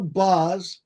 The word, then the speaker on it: Bauhs: I used to read to my son and and had his name reminds his name reminds rhymes with house.